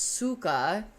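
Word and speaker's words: сука: see that's the thing it's spelled c y Ka because that's how it would be spelled in Russian but pronounced Suka I want to be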